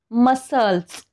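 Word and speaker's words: muscles: सुद्धा बघा सी चा उच्चार नाही होत आहे मसल्स म्हणजे काय स्नायू इथे सुद्धा एस च्या नंतर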